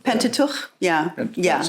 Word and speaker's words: Pentateuch: Pentateuch, yeah.